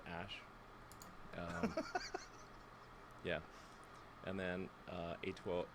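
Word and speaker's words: Æ: rogan dude rogan's awesome the ae is like pronounced ash yeah and then uh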